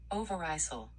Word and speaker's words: Overijssel: It's 15 years since the Second World War, and the rural Dutch province of, let's see how we pronounce it. We're not gonna, Overijssel.